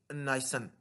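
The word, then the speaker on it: Nison: American जो था Steve नाइसन, ठीक है जी। इसको मुख्तलिफ प्रोनाउंस किया जाता है, स्टीव नीसन भी कहते हैं, ठीक है।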